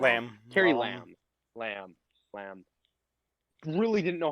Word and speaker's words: Carrie Lam: It just seems like the government, like, Carrie Law or I keep getting her name wrong. Lamb. Carrie Lam.